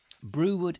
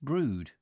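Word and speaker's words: Brewood: for the night line brew wood is pronounced brewed oh is it thank you brewed ok brewed oh yeah brew as in brewing and dude brewed very good the only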